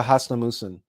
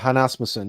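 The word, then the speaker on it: Hasnamuss: a live stream about the Hasnamusen, or the Hanasmusen. You can pronounce it either way.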